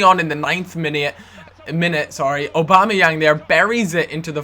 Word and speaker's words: Aubameyang: How do you pronounce Aubameyang? They told me exactly how to pronounce it, and it just reminded me of just the President Obama, and then just adding Yang on the end of it.